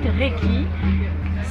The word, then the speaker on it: Reiki: Alors s'ils ne comprennent pas, en fait Reiki, c'est fait de deux syllabes, Rei, Reiki.